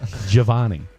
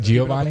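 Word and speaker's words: Jivani: Javani. Not Giovani. The balls. J I What did I just say? Keeping up with the balls. J I V A N I is Javani.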